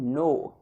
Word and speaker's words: know: नो, KNOW। यहां पे के होता है वो साइलेंट होता है, तो इसको बोलते हैं नो।